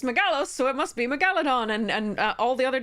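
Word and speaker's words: Megalodon: it's based on uh megalos is the the root um so um and so I called it Megaladon the second reason I call it that is um is that almost all other dinosaursextinct big crazy monsters have the emphasis placed on that syllable Tyrannosaurus Rex right Triceratops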